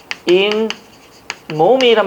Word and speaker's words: 잇몸: 원래 이 플러스 몸이라는 거죠. 근데 발음을 보니까 무엇이? 인 몸이란 발음이 나서 니은이 첨가되죠.